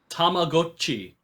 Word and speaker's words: Tamagotchi: Tamagotchi. That's how it's pronounced.